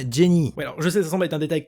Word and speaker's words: Jenny: depuis tout à l'heure je prononce jenniss mais on parle ici de la version française alors que dans la version originale à la monnaie se nomme jenny je cesse remettre un